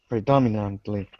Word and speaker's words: predominantly: this one it's predominantly predominantly exactly so dominant is that word there and it's the same emphasis we keep the emphasis on the Dom predominantly okay guys any